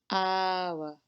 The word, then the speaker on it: hour: An hour begins with a H, but it sounds like hour, a, so we use an.